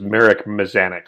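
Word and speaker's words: Mazanec: also by the way the pronunciation of his name is marek mazanik so sorry about the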